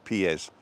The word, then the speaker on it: pies: your feet are pies but you pronounce every letter in spanish pies so if you want